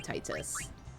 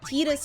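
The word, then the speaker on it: Tidus: I'll name him we'll name him Titus even though tetus is better no let's name him tetus as the proper pronunciation that's what the actor said that Titus pronunciation really upsets me let's go but I've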